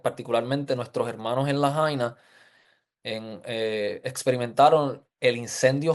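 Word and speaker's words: Lahaina: Principalmente la jaina se se pronuncia.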